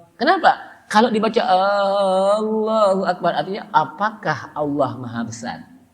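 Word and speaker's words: الله أكبر: Pertama tidak boleh baca Allahu Akbar dengan A-nya panjang. Allahu Akbar. Kenapa? Kalau dibaca Allahu Akbar artinya apakah Allah Maha Besar?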